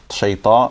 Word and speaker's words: شيطان: you look at me, look at how much my lips move when I say shaitan and rajeem, okay? So A'udhu Billahi Minash Shaitanir Rajeem. Very little movement, alright? So try to do the same, okay?